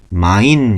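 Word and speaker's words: mein: 이런 형태로도 많이 물어봅니다 어쨌든 중요한 것은 와이가 만났을 때는 아라고 발음을 한다는 거 그래서 여기는 마인 이러고 있습니다 마인 마인 이거는 영어의 마이 라고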